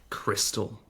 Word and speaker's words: Xtal: xtall or cross X it's X and then T I think it's supposed to come out like Crystal ah okay well there